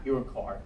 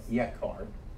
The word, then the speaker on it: yekar: Now, two other favorite words for God in the Targumic tradition are ikar and its variant yekar, not your car, but yekar, and also a term with which you might be familiar, Shekhinah, often pronounced Shekinah or mispronounced Shekinah.